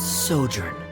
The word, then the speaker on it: sojourn: How do you pronounce this word? Let me see. Ah, that's sojourn.